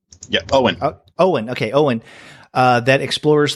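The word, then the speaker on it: Eoin: call fur that explores the UN right yeah Owen Owen okay Owen that explores the plight of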